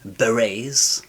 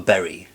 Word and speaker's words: beret: athletes were seen wearing Beret how do you pronounce Beret is it Beret it's not a berry berry a beret athletes were seen wearing